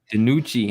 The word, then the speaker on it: DiNucci: DiNucci. Yeah. DiNucci.